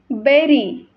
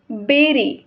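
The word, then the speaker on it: bury: बी यु आर वाय बट it pronounce बेरी नॉट बरी ऑर ब्युरी it pronounce बेरी ही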